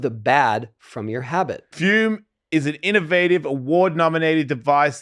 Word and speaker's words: Fume: We're talking about our sponsor, Fume, pronounced Fume.